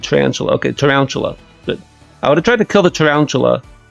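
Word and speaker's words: Tarountula: Tarantula. That's right, because it's round and tarantula.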